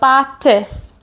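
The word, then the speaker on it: batis: we used last week for tis, and that rhymes with kiss, like we're blowing a kiss. So we're going to be a robot and then blow a robot kiss for botus, botus.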